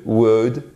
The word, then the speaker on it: would: Vous ne prononcez jamais le L dans should, would, could. OK? Would, should, could.